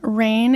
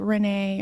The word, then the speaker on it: Rane: So my Instagram handle is Rane Fit, and Rane is spelled Rane. So a lot of people think it's like Renee or something, but it's just Rane.